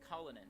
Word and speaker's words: Cullinan: your father's vein there is the Rolls Royce Cullinan which is that's how you pronounce it which is the which is the